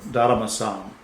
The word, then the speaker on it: Daruma: in japan is called daruma-san which means mr darma and dalama is literally a japanese pronunciation of dharma which comes from bodhidharma